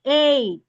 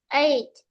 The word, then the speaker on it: ache: No, ache. Ache. Ache. I have toothache. Okay, let's go again. Toothache. Toothache. Ache, letter K, okay?